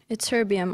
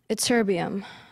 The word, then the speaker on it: ytterbium: Ytterbium. Are there any alternate pronunciations? No. Ytterbium.